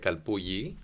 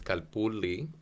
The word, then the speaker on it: calpulli: A lot of Spanish speakers pronounce it Calpulli All right. because of the double L, but Uh-huh. it's a Nahuatl word, so it's Calpulli, and it means different things throughout history.